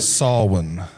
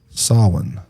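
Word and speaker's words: Samhain: right I guess if if you look at the word it it's saw s a w sawin Sawin.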